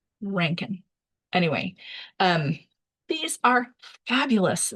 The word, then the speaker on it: Rankin: Um yes, his name is apparently pronounced Ranken.